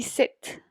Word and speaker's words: cette: De ahí, cette se pronuncia exactamente de la misma manera del otro que acabamos de ver.